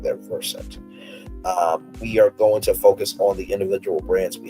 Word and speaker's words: Versant: The new company chose Vers um pronounced like the root word root the root of the word conversant to emphasize his versatility and familiarity with multiple subjects.